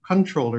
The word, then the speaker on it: comptroller: we have um dag's comptroller controller it's pronounced controller even though it's pronounced comptroller anyway um kurt uduguro or